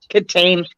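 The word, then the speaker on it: Kitaen: But it's pronounced Katane because I guess it sounds more classy.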